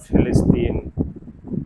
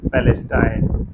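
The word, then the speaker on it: फ़िलिस्तीन: हैं तो इजराइल और फिलिस्तीन आप इसका उच्चारण तरह तरह से कर सकते हैं हां वही पलेस्टाइन फलस्तीन फिलिस्तीन उसी तरह गजा गाजा फिलहाल मेरे लिए जो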